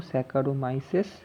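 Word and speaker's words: Saccharomyces: এটা উচ্চারণ করবো স্যাকারোমাইসেস, SACHAROMYCES, সেরিভিসিয়া।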